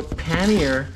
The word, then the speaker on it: pannier: my good friends uh but pannier you know the basket on your bike like the rack yeah hello paneer you do not want to know how americans pronounce kanye like big videos people debating it and someone going through it so pannier i guess in the biking community community is an accepted pronunciation because it's an anglicized word it's an